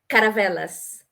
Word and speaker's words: Caravelas: I'm so glad that I could have the opportunity to do these things, Can you because pronounce it one more time for the us? It's Caravela? Caravelas.